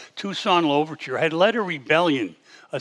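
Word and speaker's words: Toussaint Louverture: free a man named tucson lover and that's the exact pronunciation tucson overture had led a rebellion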